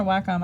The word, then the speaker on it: Wacom: which really feels like kind of like a Wacom Intuos feeling okay a little bit of texture you can still see through it pretty well yeah and it's pronounced Wakko I'm not Waco which I found out when